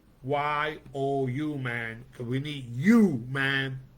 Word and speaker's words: UMAN: It's spelled UMAN, but it's pronounced YOU, man, because we need you, man, and women to make this thing happen.